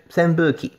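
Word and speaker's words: 扇風機: And normally we pronounce this as hu, but here we have a little maru, all right, a little circle on the fu, so it's a pu, all right, and with an extra u, so senpuki.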